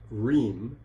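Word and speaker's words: hrīṁ: You'll notice a syllable there in square brackets pronounced Reem.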